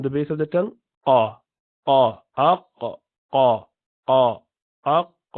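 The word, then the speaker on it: ق: you pronounce the letter Qaf. If you say Aq, so you would know the base of the tongue goes up to pronounce this letter.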